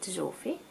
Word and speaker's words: Zsófi: with a Z, so in Hungarian we actually pronounce it Zsófi.